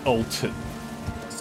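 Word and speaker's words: Altus: been calling this the atlas Plateau the the entire time once the ult pl not Atlas tus a l t not if you haven't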